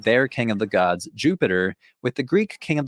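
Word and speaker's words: Iuppiter: In Latin, his name would have been pronounced something like Jupiter.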